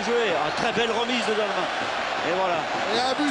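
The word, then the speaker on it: Dalmat: Il faut bien dire Dalma, pas prononcer le T.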